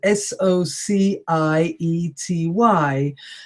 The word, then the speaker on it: society: you look in the middle there's another word SOC I ety and that is pronounced society so again it's an S but